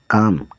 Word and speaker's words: calm: CALM, काम, काम मतलब शांत।